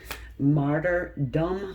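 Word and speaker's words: martyrdom: into this martyred what's how you say it martyr dumb yeah there we go martyr dumb hence the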